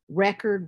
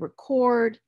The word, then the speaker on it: record: it's on the base then you have words like record record convict and convict and then depending upon the part of speech the stress is going to shift but the really useful